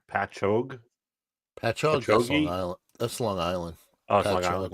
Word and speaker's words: Patchogue: this another New York uh p p Patchogue Pat hog Long Island that's Long Island oh longland okay